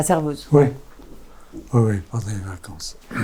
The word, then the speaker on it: Servoz: Comment on prononce? Servoz? Oui, Servoz. Bon, pas cerveau.